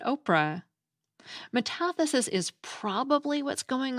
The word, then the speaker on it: Orpah: According to the American Name Society, Oprah Winfrey's actual first name is spelled O-R-P-H-A, Orpah, after the character in the Book of Ruth in the Bible, but her family always pronounced it Oprah.